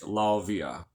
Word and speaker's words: Lauviah: Rudd in many, how they spell it in the Latin. It's Lauviah. Lavia.